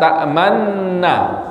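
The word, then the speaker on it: تأمنا: Tapi kok di situ wajib ya mengisyaratkan monyong. Ya, seperti apa cara bacanya? Malaka la ta'man. Nah, gitu ya. Coba malaka la ta'man. Nah, monyongnya sekali aja, jangan 2 kali.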